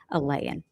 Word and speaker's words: Alayan: Justin Alayan is how you pronounce his last name, with the police saying,